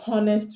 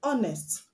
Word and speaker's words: honest: You do not say I want to be honest with you, but I want to be honest with you because the H is silent.